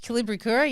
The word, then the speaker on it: Kolibricura: Kolibricura, yes. But it's pronounced however you want to really pronounce it.